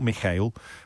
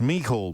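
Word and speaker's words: Mícheál: the very near future so mihul mihal miho miguel not mikhail or mikhail or even michael it's me called martin mikul mihor michael martin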